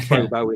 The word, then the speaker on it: pho: It looks like phobo in English, but it's not. It's pho, something like that.